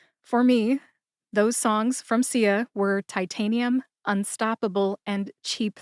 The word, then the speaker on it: Sia: As far as music, the artist known as Sia, which is spelled S-I-A, Sia, caught my ear this summer.